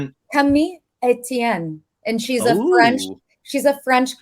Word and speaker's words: Camille: Is how French people, like her name is spelled Camille, but French people pronounce it Camille.